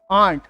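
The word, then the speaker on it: aunt: मत होना है ना, तो आपको प्रोनाउंसिएशन क्या रखनी है, यूके वाली, आंट, इससे कंफ्यूजन नहीं होती कभी भी।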